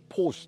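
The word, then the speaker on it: Porsche: ですね、向こうの人はポーシって感じで、ポーシ、はい、はい、感じで発音しますね、はい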